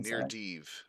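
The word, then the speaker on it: Nyr Dyv: How do you pronounce the real name of the most important body of water in the entire campaign? Near Deeve. Okay, we got Near Deeve.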